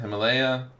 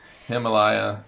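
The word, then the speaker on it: Himalia: Himalaya. It's not like the mountains. It's not spelled like mountains but Himalaya we'll say.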